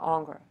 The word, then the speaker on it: Ingres: This guy, you say his name, Ingres.